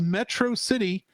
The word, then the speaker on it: Metro City: the same as Superman's Mega min's pronunciation of Metro city has the same stress pattern as Metropolis metrocity metrocity Mega mine takes on